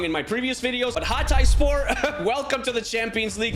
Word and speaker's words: Hatayspor: I know I've said it wrong in my previous videos, but Hatayspor, welcome to the Champions League.